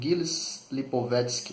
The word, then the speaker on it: Gilles Lipovetsky: Eu quero só ler para vocês um trechinho de um livro de um filósofo francês chamado Gilles Lipovetsky, na pronúncia aportuguesada aí, né?